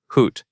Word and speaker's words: Hoot: Think of the word boot, and notice that it has the same ending sound. Hoot rhymes with boot. That means the vowel and the ending are in the same family of sounds.